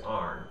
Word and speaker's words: Aarn: arn what a aarn i'm assuming that we're going to pronounce that as arn it's not a taco